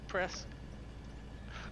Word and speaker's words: Presque Isle: How would you pronounce that one, Matt? Let's see. Presque Isle? Presque Isle. Press.